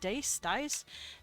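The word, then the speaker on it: dais: all day on a dy or dace, how do you pronounce it? Dice. D A I S.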